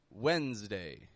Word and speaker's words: Wednesday: Wednesday. Wednesday. So Wednesday, followed by Thursday, our bonus word of today. Both are spelled with an S, and that S is pronounced as a Z kind of sound.